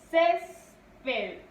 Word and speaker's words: césped: Césped. Césped. Aquí está la mayor fuerza de voz.